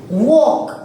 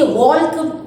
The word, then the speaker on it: walk: डू वी से वॉल्क? क्या हम वॉल्क कहते हैं? नहीं. तो कौन से लेटर की आवाज नहीं आ रही है? It's L that is silent. We cannot hear the sound of L, right?